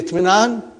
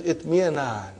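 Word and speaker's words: اطمئنان: So when you say itminan, sometimes you are eating away Hamza. You are too hungry. Okay? So what will be? Itmi'anan. Got the idea? You don't pronounce that way. You always eat your Hamza.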